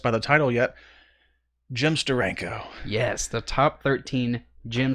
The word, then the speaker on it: Steranko: me just say Steranko there's only one way to say Steranko you're right and that is to do a dramatic pause and then Steranko you have to say his name as he signs his name you know we're gonna